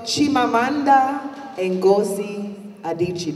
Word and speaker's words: Chimamanda Ngozi Adichie: I've learned about Chimamanda Ngozi Adichie.